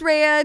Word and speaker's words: Rhea: And I was like, nope, it's Rhea. 2 letters are repeating. And I was like, it's phonetic. Like, you know, it's spelled the way that it sounds.